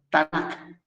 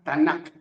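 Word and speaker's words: Tanak: h afara y también se le conoce por tanac t a n a k tanac sí esa es la porción de los profetas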